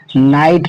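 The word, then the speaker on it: night: पढ़ेंगे राइट ठीक है अब यहां पर देखिए आई है आई के बाद यहां भी जी एच टी है तो इस जी एच को यहां पर इस जी एच को क्या करना है छुपा देना है और उच्चारण में लाना है इस टी को तो हम इस स्वर को क्या पढ़ेंगे नाइट पढ़ेंगे ठीक है यहां भी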